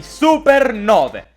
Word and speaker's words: supernovae: finalmente a parlare di supernove. No, non quel 9, 9 scritto così, con il dittongo AE che nel buon latino si legge E.